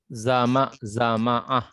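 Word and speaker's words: زمعة: Jadi za dibaca fathah, ma dibaca fathah, ain dibaca fathah. Jadi bacanya zama'a gitu ya, zama'a.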